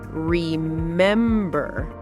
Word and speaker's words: remember: Now, some three-cllable words have stress on the second syllable, the middle one. Yes. These are often verbs or adjectives. Listen. Remember, remember important